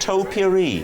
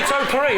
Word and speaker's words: topiary: that I will, it would be how you pronounce the word topiary. Did anybody notice he went topiary?